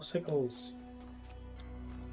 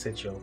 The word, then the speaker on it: sigil: More sickles. Yes, I know it's pronounced sigil, but it's funny to say sickle.